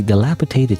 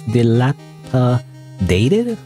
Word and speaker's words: dilapidated: By the way, dilapitated that that was a word for the longest time. I had to like learn how to pronounce dilapitated. Dilapitated. Dilapitated. Dilapitated. Am I even saying that right? Actually, it's dilapidated. I thought it was dilapitated. Dilap dilapitated. Dilapidated. Anyway, uh little dilapidated shelves.